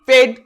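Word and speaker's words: paid: পেইন, রেড, আর এ আই ডি, রেড, পি এ আই ডি, পেড।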